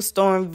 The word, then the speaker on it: Storm V: at instagram at official storm v o f f i c i a l s t o r m v you say the what is silent the v is silent storm v but the